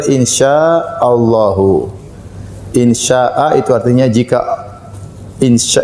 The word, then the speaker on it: Insya Allah: Manakah pengucapan yang benar? Insya Allah atau insya Allah? Yang benar insya Allahu.